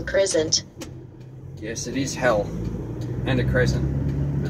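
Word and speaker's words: Hele: Turn right on Hell Crescent. Yes, it is Hell, and a crescent. It's spelled H-E-L-E.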